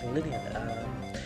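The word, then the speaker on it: Linoone: evolve it into its overall form, which is pronounced Linnean.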